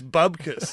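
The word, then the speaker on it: bupkis: I went, oh, sorry, and he went, it's bubkus. That was his only problem, was we weren't pronouncing it right.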